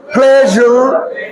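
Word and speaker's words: pleasure: পি এর উচ্চারণ হবে ফ আর এস এর উচ্চারণ হবে জরানো জরানো জ দেখো ক্লেজুর ক্লেজুর প্লেজার এখন আমি যদি আমি যদি যেই জির মত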